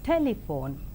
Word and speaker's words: telephone: Like in the 3-syllabled word telephone, the first syllable is more prominent, that is telephone.